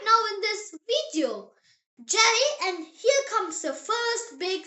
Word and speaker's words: Ja: So every time you see the letter J in German, think Y sound. The example word is Ja. Say it. Ja.